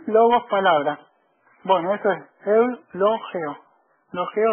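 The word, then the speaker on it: εὐλογέω: e o de nuevo la di despés la pronunci e u l o g e o e logeo qui decir la palabra griega literalmente O sea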